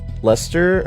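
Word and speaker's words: Leicester: It's pronounced Lester but spelled with a bunch of extra letters like how we pronounce baloney.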